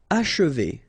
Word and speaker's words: achever: Achever, okay? And then if you want to pronounce it the way French people will do, so don't insist too much on this and you will get achever, achever.